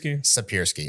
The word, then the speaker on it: Siepierski: Is it Siepierski? Siepierski.